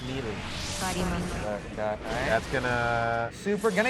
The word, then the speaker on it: Melee: Pronounced Melee.